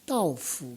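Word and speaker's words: 倒福: 그래서 왜 그렇게 붙이는가 물어봤더니 그 거꾸로라는 말이 따오예요. 그래서 따오후 그래요. 따오후가 이 거꾸로라는 글자하고 발음이 똑같은 도착했다 왔다라는 따오가 있어요. 그래서 따오후나 발음은 같은 것 같은데 글자는 전혀 달라요.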